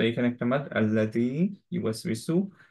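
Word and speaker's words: الَّذِي: তো যখনই হচ্ছে আহ, শুরুর যে লেটারটা তারপরে লাম থাকবে, সেটা অ্যাকচুয়ালি উচ্চারণ হোক বা না হোক, স্টিল এটা অ্যাকচুয়ালি আ পড়তে হয় হামজাতুল ওয়াসলের রুলিং এ, যেটা আমরা জানি, রাইট? সো আমরা এখানে পড়বো আল্লাযী। ইউয়াস ওয়েসু, এখানে একটু খেয়াল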